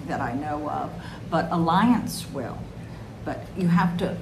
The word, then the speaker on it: Allianz: I highly recommend the Alliance. I don't think I'm pronouncing this right, but it's ALLIANZ, like zebra.